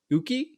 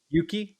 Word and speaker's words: Uki: Catch these guys on Saturday, December 7th at Uki. Is that how you say it? Uki Club? Yuki.